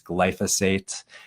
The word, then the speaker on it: glyphosate: The proper pronunciation is glyphosate, and that is the active ingredient of this